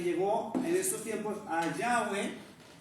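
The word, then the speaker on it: Yahweh: en estos tiempos a Yahweeh y muchas iglesias dicen Yahwe. Entonces, lo que dicen los expertos en lingüística es que sí se puede pronunciar, pero el nombre correcto es Yahua.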